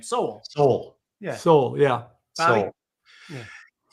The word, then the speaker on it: Sowell: I never know how to pronounce his name. Sowell.